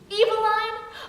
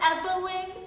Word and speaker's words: Eveline: Eveline? Oh, it's pronounced Evelyn.